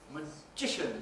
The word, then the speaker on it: magician: Magician, second syllable stress.